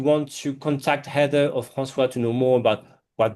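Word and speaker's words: François: It's f R A N C O I S, not S W A a as I've seen at Starbucks. Uh even though it's pronounced like that, Francois.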